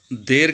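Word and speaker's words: دیر: तो दीर, ये लफ्ज़ देर कहते हैं उर्दू में, और पर्शियन में इसकी प्रोनाउंसिएशन होगी दीर, यानी देर से आना, देर से कोई काम करना, उसको दीर कहते हैं।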